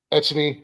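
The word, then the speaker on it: Etienne: um they got uh oh Travis uh uh ety I think that's how you say his name um Christian Kirk Gabe Davis yeah etan yeah etan there it is uh uh Christian Kirk Gabe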